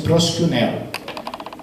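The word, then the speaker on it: προσκυνέω: E no grego existe a palavra, o verbo proskuneo, tem um i lá, mas a pronúncia é proskuneo, que é o equivalente da palavra em hebraico shahar.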